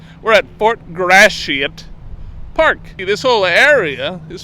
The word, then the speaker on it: Gratiot: Today, we're at Fort Gratiot. I'm going to overpronounce it. Everyone says Fort Gratiot. That sounds like I'm cussing. We're at Fort Gratiot Park.